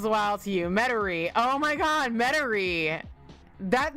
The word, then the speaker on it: Metairie: The way Mater is pronounced is wild to you. Metairie.